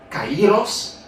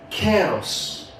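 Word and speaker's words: καιρός: Ce qui veut dire, chers amis, pour les Grecs, pour le grec moderne, nous ne pas prononcer le temps de Dieu kairos, mais nous prononcer kéros.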